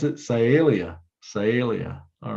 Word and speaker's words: Sialia: genus are bluebirds in you remember and to pronounce it sialia sialia all right so here's our last chance